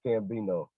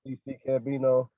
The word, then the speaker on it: CCCambino: But it's actually just pronounced Cambino. A lot of people they be like CC Cambino. I guess they thought I was doing like the X, the X thing or something.